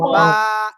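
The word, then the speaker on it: ب: সবাই অক্ষরটা বলেন তো সবাই ভাই সবাই বা এক আলিফ টেনে পড়তে হবে হ্যাঁ এই যে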